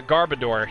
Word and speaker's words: Garbodor: I have trouble pronouncing I've always had trouble pronouncing his name we're gonna border go boy I still I apologize yeah garbodor yeah that it is garbage at garbodor yeah